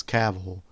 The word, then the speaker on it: Cavill: Of Henry Cavill himself pronouncing his last name as Cavill.